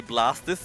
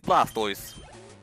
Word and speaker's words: Blastoise: I suppose the pronunciation of the name Blastoise never really makes all that much sense if it's a combination of Blast and Turtis. Shouldn't it be Blastis instead? Yet apparently the canonical pronunciation is Blastoise.